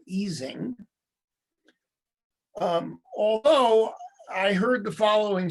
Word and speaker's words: Ising: His name is originally Ising, as I pronounce it. This is an affectation I picked up from Elliot, but it's widely mispronounced as Ising, not Ising.